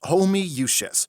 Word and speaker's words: Homoousius: It's pronounced Homoousius. How? There's 20 O's! It's Latin. What'd you expect?